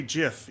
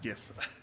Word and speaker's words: GIF: but i also say gif i do not say jif even though it's supposed to be after jiffy simple i i refuse it's gif it's pronounced gif yeah i mean it's